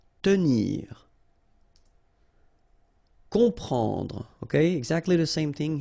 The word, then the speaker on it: comprendre: You've got OM, and after that you've got a consonant, so you will get the sound on, nasal, okay? You don't hear any M here, okay? It's on, comprendre.